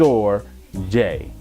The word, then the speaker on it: storge: the third form of love which is called storge it is pronounced or Jai or it's more of a familiar type love